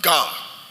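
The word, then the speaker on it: γάρ: For is a Greek word. Hallelujah. Pronounced ga. It's a conjunction.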